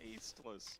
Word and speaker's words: Aceless: And I also want to make it clear that my name is Aceless because the T is silent. Aceless.